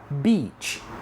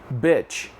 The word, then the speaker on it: beach: conhece essa palavra e a gente fala assim, ó, beach, beach, ok? Só que o que acontece muito é os alunos pronunciarem essa palavra bitch, alright?